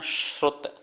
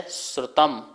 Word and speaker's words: श्रुत: श्रुत, ये शा और रा से मिलकर बनता है, इसका उच्चारण करना श्रुत मनिन्द्रियस्य।